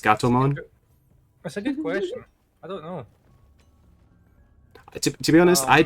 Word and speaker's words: Gatomon: Catmon. It's pronounced Gatomon.